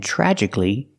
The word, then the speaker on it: tragically: is an adjective and tragically is an adverb pronunciation tragically the TR makes a CH sound like chicken plus the r together tragic he's the short ah sound like black cat tragic tragically I understand